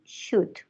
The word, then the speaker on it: should: laurita don't say el don't pronounce the l only should okay should l is